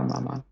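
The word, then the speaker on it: 妈妈: Mother has two first tones. Mama.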